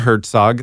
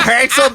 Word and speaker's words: Herzog: them along with uh verer Herzog that's how you pronounce it it's not Herzel Berry Mr boan along